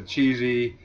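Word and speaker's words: Csehy: Reynolds says the cheesy is under investigation for drug use.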